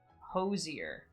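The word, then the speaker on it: Hozier: Posier, that's how you say it. Sounds like not a derogatory term. Kids these days are just getting hosed nearer and hosed dear.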